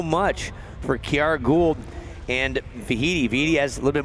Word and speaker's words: Vaihitimahana: And it was victory, speaking of Hawaii, for Vaihitimahana, rhymes with Tahiti.